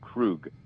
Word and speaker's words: Krug: know david and fred yeah it's pronounced it's pronounced krug oh crew not krug krug yes oh there's